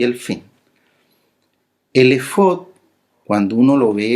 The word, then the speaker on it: efod: Álex Fey Dale y se pronuncia efod tal cual por decirlo de alguna